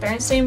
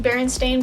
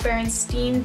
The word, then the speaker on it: Berenstain: had some doubts because I always remember it being Berenstain Bears and people are now pronouncing at berenstein bears think that just makes absolutely no sense to me but then